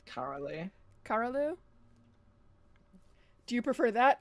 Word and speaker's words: Karaleu: I am here with, Karelu, is that how you pronounce it? Atomic? It's Karalu.